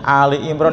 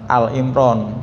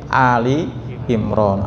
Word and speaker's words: Ali Imran: Ini surat Ali Imran ya, Ali nyebutnya Ali Imran ya Pak, bukan Al Imran. Masih suka ada yang salah nyebut ya Pak. Bukan Al Imran tapi Ali Imran, artinya keluarga Imran.